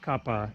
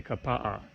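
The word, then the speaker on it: Kapaʻa: words written out then you're supposed to pronounce all of the vowels and so for example the town it spelled ka PA a you don't say Kappa you say Kappa yeah and so it's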